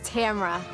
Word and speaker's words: Tamara: And the correct pronunciation of my name is Tamara.